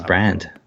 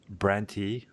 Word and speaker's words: Brandt: Is it Brandt or Brand? I thought it was Brand. Branty. No, it's just Brand.